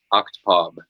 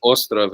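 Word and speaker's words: Остров: Oktpov. Yeah, it's Ostrov in Russian, but like the way the Russian character is spelled Oktpov.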